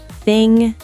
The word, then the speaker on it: thing: A lot of learners want to pronounce the G separately, like sin-ga, but it's actually one blended sound. So it's not sin-ga, it's just sing with a nasal sound at the end.